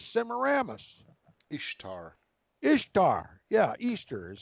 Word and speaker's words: Ishtar: rammus Ishtar Ishtar yeah Easter is how you pronounce it actually it's spelled Ishtar but it's pronounced Easter that's right did that